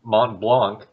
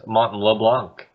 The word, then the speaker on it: Mont Blanc: Like, he was trying to talk about Mont Blanc, but I guess he had friends on the mind and pronounced it as Mont LeBlanc.